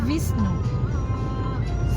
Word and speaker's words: Wisnu: Wisnu sebenarnya Visnu.